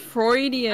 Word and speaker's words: Freudian: this is this is isn't it pronounced freudian is it pronounced floridian yeah it's freudian oh we've been saying